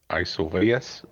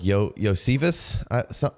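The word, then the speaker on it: Iosivas: And I always struggle with this guy's name because it is not Andre Isovius. Yeah, it's more like Yosivas is how it's pronounced, I think, or something along those lines.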